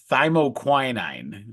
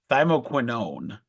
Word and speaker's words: thymoquinone: If you remember oh, I'm gonna say it wrong. I say it all the time. Quinine, right? And then quercetin. This is gonna sound very similar. It's thymoquinine. It's thymoquinone. So it's in that similar family.